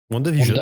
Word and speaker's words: WandaVision: Et la phase 4 va commencer tout début janvier 2021 avec la série WandaVision, ou VandaVision, ça dépend comment on prononce ça. WandaVision, je pense que c'est une bonne prononciation.